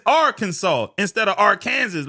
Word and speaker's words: Arkansas: In other words, instead of Arkansas being Arkansas like the word Kansas, nah. When you're talking about the state, it's Arkansas instead of Arkansas.